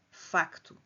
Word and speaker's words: facto: A palavra facto mantém-se o c antes do t porque esta consoante é pronunciada. facto.